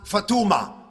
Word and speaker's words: Fatma: Maryam is usually pronounced Maryamu. Fatma is usually pronounced Fatuma, and things like that.